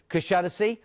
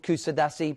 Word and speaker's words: Kuşadası: It's called Kuşadası. It is in Turkey, sometimes called Kusadasi. People pronounce it different ways.